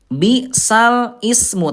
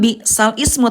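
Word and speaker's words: بئس الاسم: Bisal ismu. Tapi cara bacanya nanti Bunda bukan bal ismu tapi bisalismu dipindahkan ya.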